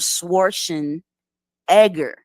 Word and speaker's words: Schwarzenegger: no no no no that's not how you pronounce it it's pronounced Arnold schwarzen Edgar specifically now he could